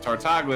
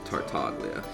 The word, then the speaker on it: Tartaglia: something like that but tartagla is very easy to pronounce tartaglia okay so anyways uh